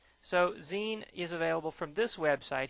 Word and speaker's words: Xine: next one is called zine i call it x sign but the correct pronunciation is zine as in maxine without the ma on there so zine is available from this